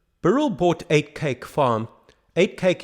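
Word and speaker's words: Uitkyk: bought eight cake Farm eight cake is spelled u-i-t-k-i-j-k in the Dutch Manor rather than the Afrikaans way back in 1997 an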